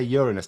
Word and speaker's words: Uranus: and that's another thing people will say oh Ur we better say Uranus no it's it's Uranus you can fit 237